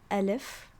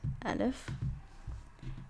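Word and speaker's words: ألف: I'm gonna have you try, keyword try, to pronounce these letters on your own. Okay. So the first one is called Alif, like this, Alif.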